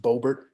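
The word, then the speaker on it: Boebert: She is horrible, and it's that I think her name is pronounced Bobert.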